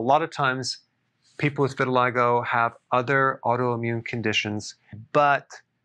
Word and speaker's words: vitiligo: I want to talk about vitiligo. Vitiligo. That's how it's pronounced.